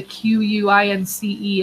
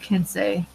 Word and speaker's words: quince: Well, they're saying the Quince is pronounced quince. It's not pronounced Kinsey.